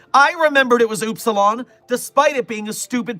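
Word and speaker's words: Upsilon: I remembered it was oopsilon despite it being a stupid pronunciation.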